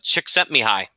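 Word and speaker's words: Csikszentmihalyi: And then Jenny also, Chick Sent Me High. Remember that, Mitch? That's how you pronounce his name.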